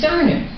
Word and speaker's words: Garnet: First I started out with, it's Garnet, with the accent on the first syllable.